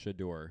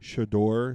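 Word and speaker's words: Shedeur: was uh sadori Shor I think it's pronounced shador shador Sanders is wearing uh a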